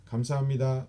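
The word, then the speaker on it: 감사합니다: know which is but we don't say it like that slow we say it more like a smooth and fast kamsa mida that's how we say it and the last last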